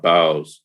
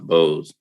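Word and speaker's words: Bowes: there's a whole village called bows or i think it's pronounced bose up in like northern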